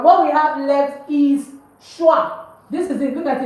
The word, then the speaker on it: chois: we have left is schwa. This is it, look at it. Please don't forget, why am I pronouncing it as schwa? Because OI is pronounced as wa in French. So CHOI is schwa.